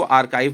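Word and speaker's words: archive: आर्चीव नहीं पढ़ते हैं इसको, आर्काइव पढ़ते हैं, याद रखिएगा। बहुत लोग इसको आर्चीव बोलते हैं, गलत प्रोनाउंसिएशन है।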